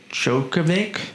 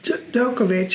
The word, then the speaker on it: Djokovic: Joj Djokovic. Dookovic.